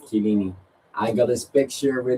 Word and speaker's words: Chiellini: I also said at one point when I was younger, Cellini instead of Chiellini.